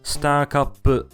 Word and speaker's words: スターカップ: The game's third cup is the Star Cup, pronounced Star Cup in Japanese.